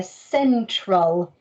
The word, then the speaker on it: central: one was slightly trickier is a soft see at the beginning here central central as in in the